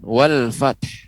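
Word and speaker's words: وَالْفَتْحُ: Wal fath ya, tidak boleh wal fath hilang huruf haknya, haknya hilang, atau pengucapannya wal fath ya, itu juga keliru ya, kurang tepat. Pengucapannya wal fath, kemudian kita berikan huruf h-nya ya, wal fath ya, demikian.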